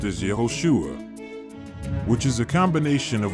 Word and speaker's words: Yehoshua: The Greek name for the Messiah in the Septuagint is Jesus, to translate the Hebrew name Joshua, which is actually pronounced as Yehoshua, which is a combination of YHVH and Yasha, meaning YHVH saves.